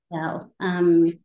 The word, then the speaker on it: Yao: So when we look at Lucy and Yao, am I pronouncing his name right? Yes. Yao.